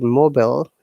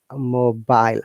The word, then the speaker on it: mobile: is the american pronunciation american sense of mobile where i is the schwa sound and for the british pronunciation is mobile i sound after b okay so the i is i sound for the british pronunciation and schwa sun for the american pronunciation so there are hundreds